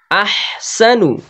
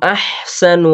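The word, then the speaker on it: أَحْسَنُ: আহসানু, এই আহসানু, এটা আহসানু ইতি না হয়, আহসানু আমালা এরকম না হয়, আহসানু হামজাতে ঝাটকা হবে, আহসানু আমালা, আইনে দাব্য হালকা হালকা দেবে, আইন উচ্চারণ করতে হবে।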